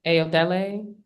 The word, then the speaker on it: Ayodele: tell me how to pronounce your name? Okay. Yeah. Ayodele.